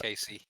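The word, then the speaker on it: Al-Kaissie: It is Crusher Blackwell and Sheik Adnon Al-Kasi. Is that how you say it? Casey.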